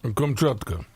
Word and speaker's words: Kamchatka: I'd go with Kamchatka, yeah, like you were. my God, I was... You got to say more like Kamchatka.